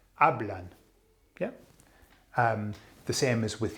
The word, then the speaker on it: hablan: So it ends with an N, it's nose rule, and therefore you put the emphasis on the second last vowel, which is the A, hablan.